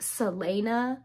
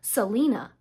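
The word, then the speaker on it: Celaena: me a lot that given the way it's spelled her name is supposed to be pronounced Salena because there is a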